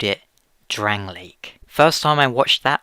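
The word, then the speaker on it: Drangleic: months back you'll remember I pronounced It drangle Well turns out I was wrong it was Drang Lake either way that sure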